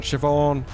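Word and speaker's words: Siobhán: every time Shannock saying every time you see a word beginning with s in Irish pronounce it as sh so s in the Irish language so it's like Sean Siobhan uh Sean Siobhan Etc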